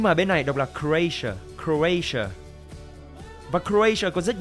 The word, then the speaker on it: Croatia: Ở Việt Nam đọc là Croatia đúng không? Nhưng mà bên này đọc là Croatia.